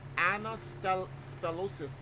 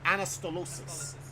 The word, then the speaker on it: anastylosis: Pronounce that word for me. That's the word. It's called Anastylosis.